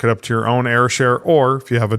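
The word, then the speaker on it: Ayrshare: And then from there, it uploaded to Airshare. And they spell it funny. A Y R.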